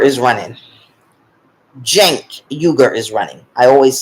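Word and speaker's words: Cenk Uygur: that it's possible now chank yuger is running Jen yuger is running I always say his name are wrong it starts with a C but it's pronounced with a J oh that's pretty okay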